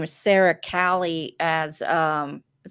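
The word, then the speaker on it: Calle: her name is Sarah Cali as um you don't pronounce the L okay Calais she is super girl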